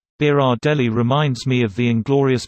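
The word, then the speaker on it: Berardelli: to remember that name just think guys but bear Adelie easy peasy edited for pronunciation beer odd le reminds me of the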